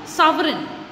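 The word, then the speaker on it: sovereign: आपका लेते हम लोग सावरी S2 विहात सीआईडी एंड जिसमें साइलेंट रहता है स्पेलिंग में आएगा लेकिन आपको बोलना नहीं है प्रनंसीएशन इसका रहेगा सावरी सावरी ठीक है की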